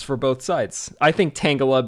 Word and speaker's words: Tangela: both sides I think tangala because it's like a tangle of vines so that makes sense